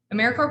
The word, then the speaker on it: AmeriCorps: like to emphasize that americorps is pronounced as if it was like core of the earth or marine corps it is not a mere corpse or americorp because we aren't dead we're alive and well okay i just a